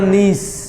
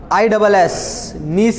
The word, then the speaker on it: gneiss: क्या देगा, ग्रेनाइट और नीस। नीस की स्पेलिंग बड़े अच्छे से लिखिएगा, GNEISS, नीस की स्पेलिंग है ये, GNEISS, नीस, granite and नीस।